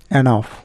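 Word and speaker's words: enough: যেমন টাফ মানে কঠিন, টাফ, এখানে জিএচ এর উচ্চারণ ফ হয়ে যাচ্ছে, এনাফ।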